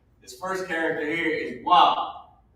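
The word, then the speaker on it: ו: This first character here is wa. It's wa. It's pronounced wa, and it means and.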